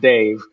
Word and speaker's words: Dav: There's this cartoonist / children's book author named Dave Pilkey. It's spelled D-A-V, but it's pronounced Dave.